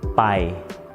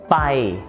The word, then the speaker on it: ไป: The common mistake is that the students who speaks english as the first language may pronounce the /bp/ sound as a /b/ sound–บ.ใบไม้.